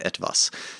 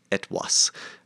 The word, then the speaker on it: etwas: And so etwas is, and notice the pronunciation there, right? This is the Middle High German pronunciation, so it's not the modern German etwas. This is etwas, because they're pronounced differently.